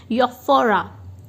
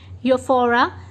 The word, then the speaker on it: euphoria: से आप प्रोनाउंसिएशन देखिए, euphoria, YOFFOREA, euphoria, delusions and over activities.